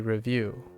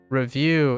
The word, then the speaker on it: review: often I review a review review is the noun review is the verb so often I review